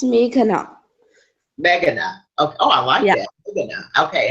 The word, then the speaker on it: Meghana: the Arthur chat show today's guest is author megan is that pronounced ralphing did I pronounce that right it's me cannot meghana oh I yeah yeah okay and how do